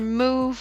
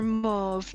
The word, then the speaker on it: Mauve: We've got Cockwomble, Butterbean, Wet Fart, and either Move or Mauve, depending on how you pronounce that. May Hazel, if you would like to correct me, are we doing the ooh or ah version? You're welcome.